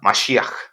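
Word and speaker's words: מָשִׁיחַ: Es una palabra que proviene del hebreo y se pronuncia similar a Masiaj, que significa ungido.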